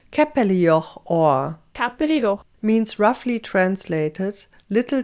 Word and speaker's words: Käppelijoch: And on this bridge stands the capellor, or if you pronounce it correctly in Swiss German, it sounds like this. Capellio or means roughly translated little chapel on a pillar.